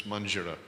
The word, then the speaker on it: manjira: The actual name is manjira. Mert mi karatalnak hívjuk, de ez a neve How to pronounce?